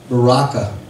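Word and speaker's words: Berachah: I'm sorry that's how I was supposed to pronounce until this day that's second chronicles chapter number 20 and 26 and that word Baraka means blessings that was the place where the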